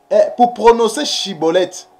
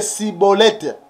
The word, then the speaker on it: Schibboleth: Parce que les Éphraïmites, ils avaient des difficultés pour prononcer Chibolette. Et ils prononçaient que Cibolette. Et ils prononçaient Cibolette.